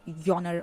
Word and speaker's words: genre: And likewise, there were other words like we could never say genre. It had to be like yonner or some something like that.